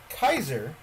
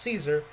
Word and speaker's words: Caesar: if you didn't know kaiser is caesar is an incorrect pronunciation of his name his name was not pronounced caesar it was actually pronounced kaiser caesar in his time